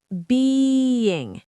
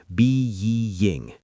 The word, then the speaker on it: being: But being has two sounds. b ing being I have been working. I am being difficult. Yes, I can hear the difference. Being is longer. It has that yuh sound in the middle.